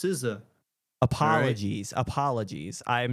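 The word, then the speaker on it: SZA: And it's pronounced Siza.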